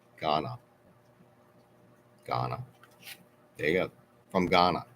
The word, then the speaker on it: Ghana: it wrong G Gahan I thought it was gyana G okay Roco is is much more travel